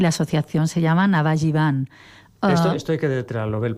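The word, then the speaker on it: Navajeevan: También tenemos un Facebook y la asociación se llama Navajivan. Esto hay que deletrearlo, Bel, porque en Facebook estará escrito no como se pronuncia, bueno, ¿no?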